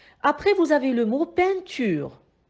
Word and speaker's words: peinture: vous avez le mot peinture le mot peinture est composé de trois syllabes pin creux on entend le 101 dans la première syllabe pain et le 101 été créé avec les lettres e i n donc le 101